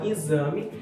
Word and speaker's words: exame: We have, for example, "exame", that has an "x", and an "e", but we say "izami", and another is "desconto".